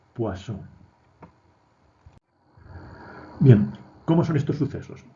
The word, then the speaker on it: Poisson: biografía en la wikipedia es un nombre por lo tanto hay que respetar su pronunciación es guasón bien como son estos